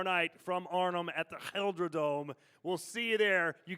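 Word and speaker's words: GelreDome: Yeah, I'm just happy to be back in the Gelderdome.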